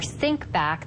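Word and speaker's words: Syncbak: go to the App Store and look for sync back that is spelled s y n c b a k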